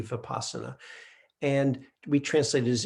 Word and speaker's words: vipassana: all it is but most of the time it is spelled with the v and you'll hear pronounce with the v vipassana and we translate it